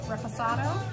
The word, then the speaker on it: Reposado: Yeah, so the next level is, I'm going to say it wrong, Reposado.